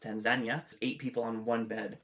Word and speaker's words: Tanzania: And actually when I went to Tanzania, which is actually pronounced Tanzania, eight people on one bed and it's not even a hospital bed.